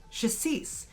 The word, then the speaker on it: Chassis: Chassis. It's very similar to the French pronunciation of crème de cassis, however, this has an H, so it is chassis.